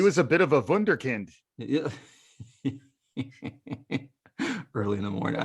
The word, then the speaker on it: wunderkind: a bit of a wunderkind early in the morning i don't think i could even pronounce that like yeah the w it's two more times german it's german so the w z vunderkind okay great great jordan